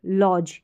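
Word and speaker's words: lodge: तो देखिए यहाँ पर है ल और ज, लॉज। DGE तो ज, लॉज, लॉज।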